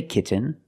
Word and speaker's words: kitten: makes a different sound we have to make a stop T and Link it to the N example kitten you can say kitten but most people say kitten you do the stop T get you don't release and then you fall to an end kit when you make